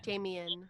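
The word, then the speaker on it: Damian: Is it Damon or Damien? Damien. And They say his name Damon a couple times and he says Damon. That's he just just the has an accent.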